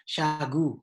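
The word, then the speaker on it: Shagoo: S-A-nya saya ganti S-H-A. Jadi Syah, seolah-olah bacanya Syah. G-U-nya saya ganti dengan double O. Jadi G-O-O. Akhirnya saya bacanya Syagu.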